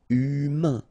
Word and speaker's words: humain: Remember, H doesn't exist. So, U, then A-I-N together. Un. Humain. Humain.